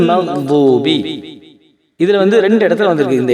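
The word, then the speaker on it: مغضوب: அதே போல மக்லூபி அப்படின்னு படிக்காம மக்தூபி. இப்ப நம்ம என்ன சொல்லிட்டு வரோம் அப்படின்னா, இந்த அரபி எழுத்தை எப்படி உச்சரிக்கணும் அப்படிங்கறத நம்ம பார்த்துட்டு வரோம்.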